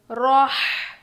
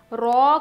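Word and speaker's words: راء: रॉ, रॉ को मोटा पढ़ते हैं, रॉ ऐसे पढ़ते हैं, रा नहीं बोलते, रॉ बोलते हैं।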